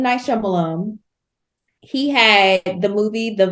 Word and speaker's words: Shyamalan: Tanisha, it's M. Night Shyamalan. Lum. You're right, my bad.